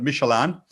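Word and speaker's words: Midtjylland: It's like a Michelin man, kind of, spelt in Danish, if that makes sense. That's the pronunciation. Very difficult to spell, but Michelin.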